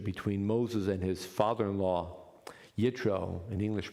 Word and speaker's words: Yitro: And we know of what we would call a close relationship between Moses and his father-in-law, Yitro, in English pronounced Jethro.